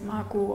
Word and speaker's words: Margot: Margot, sie heißt Margot mit einem T. Nee, also tatsächlich spricht man's Margot aus. Ist die stumm?